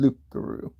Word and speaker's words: Lougarou: or no teeth that mispronounced the word Lou into Roo, and they just called it a Rougarou because it was easier to say than Lougarou.